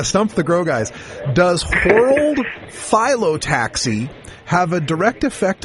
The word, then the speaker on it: whorled: It's World, WHORLED, World, like you'd whirl something around, and then Phyllotaxy.